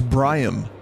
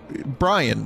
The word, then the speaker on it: Bryammemmm: your name is Brian like Brian you said Brian's your name right no my name is Brian my parents thought that Brian would be a totally cool and purified way to say my name so it's BR I a mm II M mm I knew we came